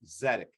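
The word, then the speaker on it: Tzedek: One in the District of Columbia is ZEDEC. It is the ZEDEC legal clinic at UDC. And ZEDEC is spelled TZDEK.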